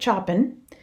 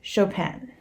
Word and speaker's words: Chopin: And it's very important that you say her name correctly. It is not Kate Chopin. It's Kate Chopin.